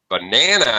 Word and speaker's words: banana: banana all right uh yeah if you stress the first syllable it's banana if you banana is correct if you stress the last syllable it would be banana I would like a